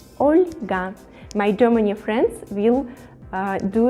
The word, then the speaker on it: Olga: Oscar, Olga, Olga, with the soft pronunciation the letter L, Olga.